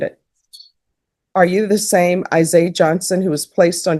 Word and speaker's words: Isaiah: How do you pronounce your first name? Isaiah. Isaiah? The H is silent.